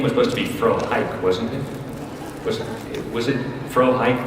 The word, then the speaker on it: Frohike: Frohickey, that his name was supposed to be Frohike, wasn't it? Was it Frohike, the pronunciation originally? I'm actually asking you, Julie Lynn. Well, no, it's Frohickey.